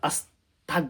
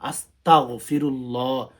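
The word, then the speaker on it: أستغفر الله: তবে অনেক মানুষ আছে সমাজের মধ্যে, তারা আস্তাক বলে, আস্তাক না, আস্তাগফিরুল্লাহ শুদ্ধ করে পাঠ করতে হবে।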